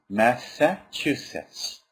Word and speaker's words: Massachusetts: MIT all right I really hope you can pronounce this word well Massachusetts all right n a s a c h